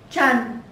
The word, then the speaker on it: Trần: Trần.